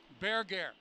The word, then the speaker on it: Berger: good look at Erica bear gear the name is spelled Burger but I've heard about three different pronunciations of that name and checking with the Swedish contingent they say bear gear so we'll go with